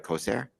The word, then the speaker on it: Kosair: I'm pronouncing that correctly, right? Kosair?